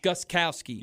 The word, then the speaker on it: Gostkowski: But the biggest story probably is Gostkowski. One more time? Steven Gostkowski. Gostkowski.